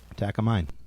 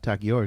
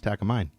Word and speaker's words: Takamine: Takamine. It's not Takiyours, it's Takamine.